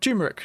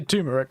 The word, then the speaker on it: turmeric: you're concentrating but yes it's called turmeric not turmeric turmeric no i always say tumeric so that's always how i've said it i look at it